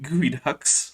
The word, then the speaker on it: geoduck: are a box of gooey ducks with a Godzilla emoji. Geoduck. No, it's gooey duck. It's not pronounced the way it's written.